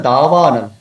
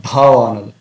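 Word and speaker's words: दावानल: I observed that Tamil devotees instead of da they said dha. Because dha is the aspirated sound. Belongs to definitely tavarga, but it is aspirated sound. It's a mahaprana sound. But here we have alpa prana sound da. So we have to pronounce samsara davanal, not dhavanal.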